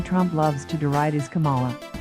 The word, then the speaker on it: Kamala: loves to deride his kamala he gets the second syllable incorrectly with the same gusto